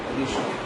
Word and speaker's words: initiate: The stress is falling on NIT. This G that we have here will give sh sound. Do we know the word fish? Here we have niche.